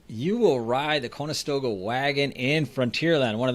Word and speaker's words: Conestoga: and 1998 david this is fun a westward ho conestoga oh i listened to this to find out how to say it properly and i keep forgetting connoisseur stoga conestoga dragon fries food stand opens